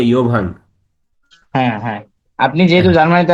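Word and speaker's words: Jovan: হ্যাঁ, যেমন এরা ইয়া বলে না, যেমন প্লেয়ারদের নাম হয় না, যেমন যেমন জোভান, JOVN, এরা বলে ইয়োভান।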